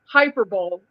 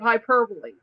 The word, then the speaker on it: hyperbole: all of a sudden everybody overnight was saying hyperbol instead of hyperbole.